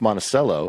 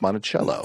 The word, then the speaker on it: Monticello: In some places it's Monticello, in some places it's Monticello.